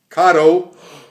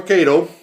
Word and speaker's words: Kato: and you're looking at Karo or Kato however you want to pronounce it I guess it's a tomato tomato deal those are California Zephyr